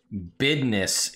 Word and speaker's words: Bidness: In Neverwinter, Bidness is how they pronounce business. And that is canonically how it is spoken in Neverwinter.